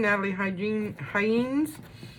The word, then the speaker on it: Nathalie Heijne: Again, Nathalie Heijne. She said the J is silent.